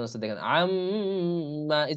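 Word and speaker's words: عَمَّ: আর নাকের বাসি থেকে উচ্চারণ হচ্ছে, দেখেন আম্মা, এই যে আম, এটা নাকের বাসি থেকে।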